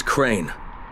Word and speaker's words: Crane: no my name is crane crane crane rhymes with train and brain and sign and Grain